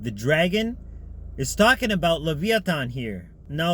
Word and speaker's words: Leviathan: Wait, the dragon is talking about Leviathan here. Now, Leviathan, or Leviathan as it's pronounced in modern English, refers to the great